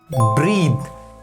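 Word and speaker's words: breath: The next word is ब्रीथ।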